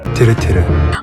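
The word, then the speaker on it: TIRTIR: तो गाइस उसके बाद कल मुझे एक और चीज़ मिला, कल मुझे इस तिर तिर कंपनी का राइट प्रोनाउंसिएशन मिल गया। सो इट्स नॉट तिर तिर, इट्स तिरे तिरे।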